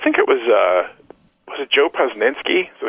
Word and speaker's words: Posnanski: Although I think it was it Joe Posnanski? Is that how you pronounce his name?